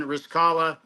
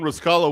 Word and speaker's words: Riscala: It So, rhymes with Kabbalah. yes. Then you got on the Remember, right. You hold got on, another John. Jewish girl. Remember also Simone Riscala was also the director